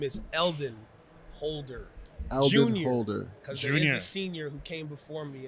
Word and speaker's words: Eldon Holder: for having me out so my name is eldon holder holder who came before me and we always